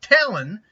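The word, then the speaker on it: Talyn: Today we're looking from Talon. I think it's pronounced Talon. It's spelled T-A-L-Y-N, so I'm going to assume that's Talon, not Talon.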